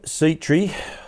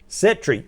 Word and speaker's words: Settree: of action happening today ben seetree i get in trouble for saying your name wrong sometimes is that right cedric setri very good i won't say the seat i'll call you setri from now on from brooklyn lodge joins